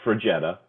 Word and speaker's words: Fraggetta: do absolutely it's pronounced last name is pronounced for jetta so it's like a volkswagen jetta with fra in the front it's the pronunciation and